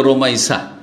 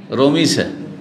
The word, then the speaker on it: রোমাইসা: আমাদের লোকেরা নামগুলো অনেক বিকৃত করে, অনেক নামকেই কি করে, শুদ্ধভাবে উচ্চারণ করেন না। যেমন রোকাইয়াকে রোকিয়া রোকিয়া করে না, কি করে, হ্যাঁ রোকিয়া, ওই রকম রোমাইসাকে রমিসা, তাই না, বিকৃত নাম রোমাইসা, এই নামটি এসছে বিভিন্ন বর্ণনায়।